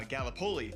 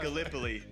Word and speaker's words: Gallipoli: right because being from Iowa, I said uh Galipoli. That's what I said. It is pronounced Gallipoli.